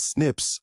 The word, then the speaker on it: SNPs: snps single nucleotide polymorphism pronounced as Snips occur in humans this